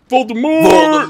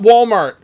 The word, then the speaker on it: Voldemort: four with Team Voldemort Voldemort vort not Walmart not walmort Voldemort noobs learn how to say it and I'm here with